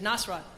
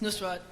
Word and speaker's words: Nusrat: Because I have a friend named Penny, and she, I played her the thing, and she said Nasrat. Yeah. It's Nusrat, and he's my Elvis.